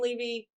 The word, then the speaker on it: Levy: uh our his backup jane levy or jane levy not pronounced like eugene levy jane levy has exited